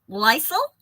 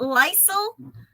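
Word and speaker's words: lysyl: spelled l-y-s yl so Lysol and I just don't want that to sound like Lysol the cleaner but Lysol hydroxylase is an enzyme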